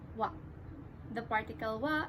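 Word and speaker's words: は: You should also note the spelling of the particle wa, that it is spelled as ha in hiragana Japanese writing, but you should always pronounce it as wa.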